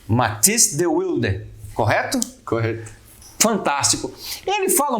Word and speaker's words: Matisse de Wilde: Porque o Matisse vai falar a pronúncia correta, porque nós aqui brasileiros é Matisse de Wilde, mas tem o correto, e o correto é do holandês, certo ou não?